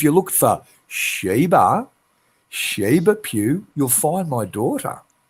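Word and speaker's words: Pugh: it's it's spelled okay it's spelled p u g h right so that's Papa uniform Golf Hotel Pew right pew pew but if you pull it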